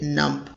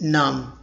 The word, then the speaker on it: numb: It's an adjective and people commonly mispronounce it numb. They really pronounce letter B, but it's silent always. So you'll pronounce it numb, not numb.